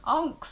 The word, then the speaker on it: ankh: Onks are a very ankh or onk, it depends how you want to pronounce it, but they are a sacred key.